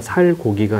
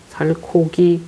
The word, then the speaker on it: 살코기: 비슷한게 뭐가 있을까 비슷한게 살코기 살이 소리가 있어요 그래서 살과 고기를 합쳐서 말할 때는 살 고기가 아니라 살코기 이렇게 발음을 합니다 열다 다다 여닫다 역시